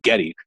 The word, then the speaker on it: Geddy: Gary's Polish mother pronounced his name Getty, and it stuck.